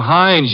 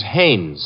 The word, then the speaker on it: Haines: he's a fellow named Heinz used to fish no not Heinz Haynes couldn't be hummingbird now